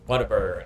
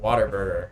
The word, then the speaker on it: Whataburger: It's Whataburger, not Waterburger.